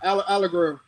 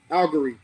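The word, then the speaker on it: Allgeier: people don't know about tyler allegro i was mispronouncing his name tyler uh algary he's out of byu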